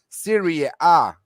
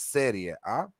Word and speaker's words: Serie A: Remaining in Serie A, how Flash loves to say it, Serie A, but it's Serie A.